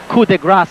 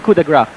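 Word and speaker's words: coup de grâce: Coup de grace here. Did I say that right? Coup de grace. No, it's coup de grace.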